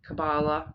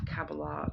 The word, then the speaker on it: Kabbalah: I've heard that pronounced both ways. Kabbalah, tree of life, Kabbalah, tree of life.